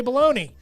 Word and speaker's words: bologna: It's got to be spelled exactly right, except for when I see Bologna, and I still say baloney.